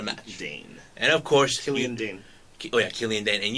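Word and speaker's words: Killian Dain: for the NXT title between Matt Riddle and Killian Dion, if I pronounce it right. But Matt Riddle won the match. Dane. And of course, Killian Dane.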